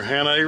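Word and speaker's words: Hannay: these little here that was how do you pronounce the name of these reels these are hannah reels hannah reels and you got this little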